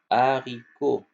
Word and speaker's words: haricot: Alors le H le H au début ça se prononce pas les enfants.